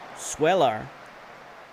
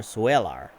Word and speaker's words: Swelar: Swelar. Sure. Like Seller, but he's got a U in there. Swelar.